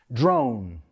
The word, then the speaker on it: drone: Well, the first word, pronunciado en inglés, drone. Drone. No drone, like you say, un poco diferente, right? Drone.